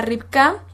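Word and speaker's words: רבקה: Muy bien, pues el nombre de Rebeca en su idioma original, esto es en hebreo, se pronuncia Ribka, y se los voy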